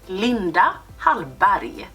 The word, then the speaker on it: Linda: secrets from linda bari a lot of people say that i mispronounced her name but no i'm swedish and so is linda so linda is the way we pronounce it this is a beautiful